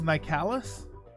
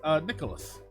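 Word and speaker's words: Nicalis: company well the pronounciation I always thought it was my callus but apparently it's Nikolas save points Sammis now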